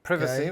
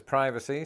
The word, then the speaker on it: privacy: for this as in the British use of a short eye becoming a long eye in American English other examples include hibiscus versus hibiscus privacy versus privacy simultaneous versus simultaneous Trester